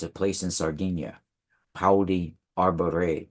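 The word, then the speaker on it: Pauli Arbarei: And the village that they live in is it's Pauli Arbore. It's a place in Sardinia. Pauli Arbore. It's spelled Pauli Arbarea. Arbore. Pauli Arbore.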